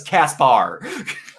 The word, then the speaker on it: Casper: show and in this one casper is widely pronounced as kaspar that's not an a gayness that's twitch and